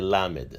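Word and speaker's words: ל: The next letter of the Hebrew alphabet is a lamed. Lamed has a numerical value of 30. The lamed is pronounced as l. The next letter of the Hebrew alphabet is the mem.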